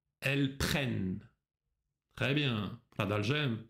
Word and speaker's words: prennent: Тут тоже замечай, что последняя форма – это открытый звук «э». Ils prennent. Elles prennent.